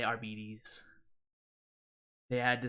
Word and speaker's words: Arbites: And it's like, oh, the Arbites, right? No, actually, they're Arbites.